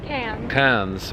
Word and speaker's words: Cairns: out this little city how's it pronounced again cairns cans but uh it's low